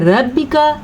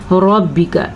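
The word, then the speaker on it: رَبِّكَ: जब रॉ के ऊपर ज़बर आ जाए या रॉ के ऊपर पेश आ जाए तो रॉ पुर पढ़ी जाती है। अगर आप पुर नहीं पढ़ेंगे तो आप पढ़ेंगे रब्बिका, तो इससे बजाय आपने पढ़ना है रब्बिका। गलती है रब्बिका, दुरुस्त है रब्बिका। यौमइज़िनिल मुस्तक़र।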